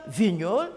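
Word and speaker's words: Vigneault: je reprends pour Gilles Vignol Vignol s'écrit V i G n e a u l t je cite tous les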